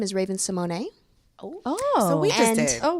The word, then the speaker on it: Raven-Symoné: So my correct pronunciation of my name is Raven-Symoné, So we just did.